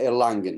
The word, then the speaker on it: Erlangen: Law, who holds MA in Human Rights at Erlangen University in Germany. I hope I've said it right. Is that Erlangen?